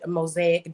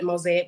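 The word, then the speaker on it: Mosaiq: and spirituality coach and my brand mosaic design spelled with a q so that's m-o-s-a-i-q mosaic design and all of really the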